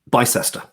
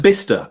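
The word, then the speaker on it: Bicester: the sesters um uh bista it's spelt b-i-c-e-s-t-e-r by sester kind of like the bifrost but not as exciting but it's pronounced bista and for years i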